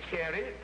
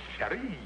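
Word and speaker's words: chérie: In the French language, that ain't cherry. That's cherie. Cherie. Cherie. Cherie. Yeah, Andy, the French language is the one where you don't accent the first syllable. You spread it.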